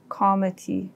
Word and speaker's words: comity: There's something called, at the international level of law, there's something called comity, and it's spelled COMITY.